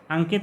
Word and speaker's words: अंकित: अंकित गुम्फित यहाँ पर अनुस्वार का उच्चारण आधा माँ किया जा रहा है, अंकित में अनुस्वार का उच्चारण आधा इंग्या किया जा रहा है।